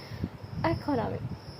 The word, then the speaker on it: economic: The suffix again shifts stress. The base noun economy is stressed on the second syllable, but economic. Adjective place primary stress on the syllable before it.